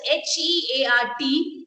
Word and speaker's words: heart: Now we had this words, two words, H-E-A-R-T, and then I had this one, A-I-R-P-O-R-T. And most of the students gave me the right pronunciation that it is heart and airport. Done.